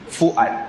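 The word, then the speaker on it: فؤاد: bukan sengau tak sengau Fuad Fuad f u a d tu ejaannya Fa wau Hamzah Alif Dal Fuad bukan Fuad bukan Fuad ya jangan kita ainkan huruf yang bukan Ain Fuad makna Apa jiwa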